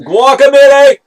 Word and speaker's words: Guacamelee!: It has an exclamation point, so it's Guacamelee! Yes. That's how you pronounce it.